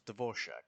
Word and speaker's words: Dvorak: from Fontaine excuse me did he said his name was dvorshak that is now I know I'm not good with names but I would have pronounced that Dvorak not dvor Shack what the [ __